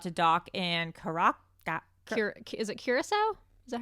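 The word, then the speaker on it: Curaçao: At this point, the ship was just about to dock in Is it Curacao? Is that how you pronounce? Yeah. Curacao?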